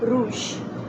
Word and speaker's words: rouge: Then we have blanc, that is white, B-L-A-C-N-C, and rouge, R-O-U-G-E, rouge, red.